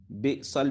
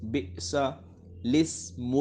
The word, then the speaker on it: بئس الاسم: زیر دے کر پڑھیں۔ اب یہاں پہ دیکھیں الاسم جو لفظ ہے، الاسم، ٹھیک ہے، اس میں الف سے پہلے، یہ لام سے پہلے اور لام کے بعد دونوں الف لکھے ہوئے ہیں، ٹھیک ہے، تو یہ دونوں الف نہیں پڑھے جائیں گے بلکہ لام کو زیر کے ساتھ پڑھیں۔ بئسا، بئسل بھی نہیں